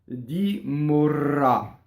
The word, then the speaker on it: morrà: Morrà, morrà. So closed O, rolled R, right? So, and again, an accented ending, morrà.